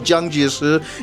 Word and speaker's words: Jiang Jieshi: The reason for this is actually quite simple. It's just that the Cantonese version of this guy's name is Chiang Kai-shek, right? So the Cantonese of Jiang Jieshi is apparently Chiang Kai-shek, and I'm not gonna